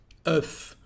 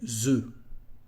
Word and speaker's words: œufs: You can hear the letter F at the end, but the plural form is different. The plural, it is E. And in this case, the F disappears. E, un œuf, but des œufs. Okay, so that's why in some cases some cases, this letter F at the end of a word is not said.